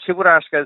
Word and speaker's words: Cheburashka: You also collect, now let me see if I can get this right, Cheburashka? Did I say it right? You're very close. You're very close. So Cheburashka is the cutest Soviet-era cartoon, and it's this little bear, sort of bear monkey creature.